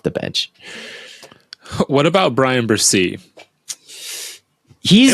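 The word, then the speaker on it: Bresee: bench What about Brian bercy he's am I pronouncing that right is it it's Brazil yeah like a z Brian Brazil like Brazil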